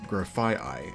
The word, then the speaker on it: Grafaiai: And like I said in the last Countdown, we already knew its name, and I mispronounced it very, very badly. Grafaiai. Grafaiai. Its real name is Grafaiai, and I should have known that before.